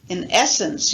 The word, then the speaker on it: in essence: number one in essence in essence you notice this the main stress following falling on the second syllable in essence second one